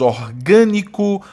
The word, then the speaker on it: orgânico: E a sílaba tônica de orgânico e plástico é a antepenúltima.